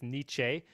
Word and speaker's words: Nietzsche: moment of teenage connection where he corrects his pronunciation. It's Nietzsche.